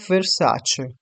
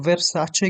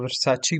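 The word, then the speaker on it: Versace: इसके बाद है वर्साचे। इसको वर्साचे कहते हैं, अक्सर लोग गलत पढ़ते हैं, इसको वर्साची पढ़ते हैं, लेकिन जो इसकी प्रोनाउंसिएशन है रियल वर्साचे है।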